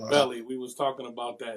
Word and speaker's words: Beli: more entertainment so so it's pronounced belly we was talking about that it's pronounced belly king belly yes pronounced billy i